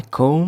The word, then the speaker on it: comb: B is silent. I comb my hair.